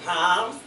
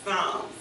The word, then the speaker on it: Psalms: Don't let him keep saying palms, because when he go out to another church and he stands up and says palms, Total embarrassment. you see what I mean? It's Psalms. And there's nothing wrong with learning the right way.